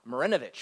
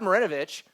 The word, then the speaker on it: Marinovich: Pete Maravich um Todd morenovich I'm sorry I'm saying it wrong Todd morenovich um Todd marinovich was from my hometown